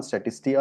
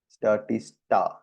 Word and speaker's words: Statista: is a good one statistica is sorry statist I never can never pronounce this properly uh statist statista statista and I world uh